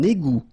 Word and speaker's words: égout: Un égout. Okay, little link between the two. Un égout. Final T not pronounced.